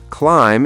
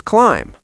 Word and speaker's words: climb: So thumb is thumb, bomb is bomb, climb is climb. Perfect. And same with comb and lamb. Here's the pattern. If you see mb at the end of a word, the b is silent.